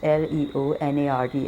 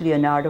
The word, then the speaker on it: Leonard: of paper and he said how do you pronounce this it was l-e-o-n-a-r-d S S Leonard so he says where you get this Leonardo from I was trying to show off you